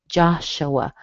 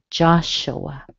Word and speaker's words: Joshua: You notice the U sounds like a schwa. Joshua, but you do hear a little W in between them. Joshua.